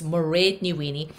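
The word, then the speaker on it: Mairéad Ní Mhaonaigh: and my name is murray niwini it's very easy to pronounce my name if you rhyme it with parade that's like merid and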